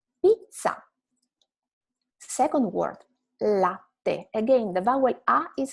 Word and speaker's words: latte: So latte, not latte, right? It's latte.